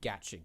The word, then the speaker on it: gacha: To fill those in who aren't in the know-how, Genshin Impact is what's called a gacha game, and yes, that is apparently how you're supposed to pronounce it.